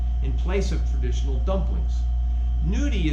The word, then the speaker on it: gnudi: place of traditional dumplings nudie is spelled g-n-u-d-i and noki is spelled g-n-o-c-c-h-i so i call the dumplings